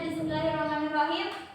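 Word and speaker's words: بسم الله الرحمن الرحيم: Bismillahirrahmanirrahim, cukup 2 ketukan aja. Bismillahirrahmanirrahim. Kemudian kalau misalkan dia kan ada nir. Nah, ini apa? Tanda apa? Tasjid. Nah, dia kalau bacanya harus ditekan dulu baru dimasukkan hurufnya. Jadi Bismillahirrahmanirrahim. Jadi jangan nggak dibaca tasjidnya, jangan nggak ditekan dulu. Karena nanti beda arti. Misalnya nanti ni-nya atau bis-nya kalian panjangin. Bismillah, jangan, karena di situ tidak panjang. Jadi bacanya biasa aja.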